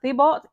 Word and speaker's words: Thibault: have fired Coach Eric, I believe it's pronounced Thibault, and GM Mike Thibault.